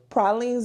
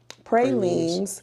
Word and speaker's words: pralines: Is pralines or pralines is the way we pronounce it in New Orleans. But if you say pralines, we understand that too,